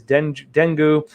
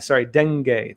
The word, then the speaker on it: dengue: that can help combat tropical diseases such as dengue, bilharzia, and river blindness, as well as for COVID-19, is according to the statement.